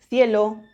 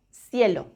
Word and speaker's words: cielo: Las dos formas son correctas. Ceniza o ceniza, cielo o cielo.